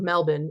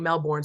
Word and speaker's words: Melbourne: Like, for example, if many of my participants are Australian, I'd like to at least know the correct pronunciation of Melbourne instead of saying Melbourne, so that they're not sitting there thinking now for the next 10 seconds that I said it wrong.